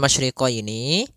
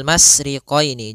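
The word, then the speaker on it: مشرقين: masriqini pada lafal masyriqini maka di sini ada huruf syin maka kita harus membacanya dengan adanya sifat tafasi Apa itu tafasi adalah salah satu sifat yang terkandung di dalam huruf syin yaitu menyebarnya suara sehingga Jangan dibaca rabbul masriqini jangan dengan huruf Sin tapi dia huruf syin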